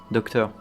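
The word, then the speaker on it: Dottore: Mais il prononce docteur, c'est marrant que.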